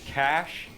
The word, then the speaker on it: cache: It is not pronounced cache, it is pronounced cash.